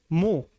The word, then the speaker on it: mho: तो इसको उसी को पलट देते हैं, MHO, मो। कहीं पर महो भी लिखा होगा, आधा मां बना के हो, लेकिन एच को साइलेंट करके मो बोला जाएगा, मो।